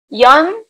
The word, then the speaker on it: 연: Yon, mi romanización de Yon es. Y-E-O-N. O sea, yo es E-O. Claro. Entonces, cada vez que vos veas que dice E-O, vas a pronunciar como yo.